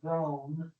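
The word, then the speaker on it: Rōm: His company is called Rome. For some reason he chose to spell it ROM with a line over the O, but okay, fine.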